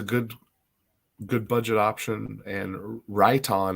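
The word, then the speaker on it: Riton: good budget option and right on is how you say that rit-o-n that he posted earlier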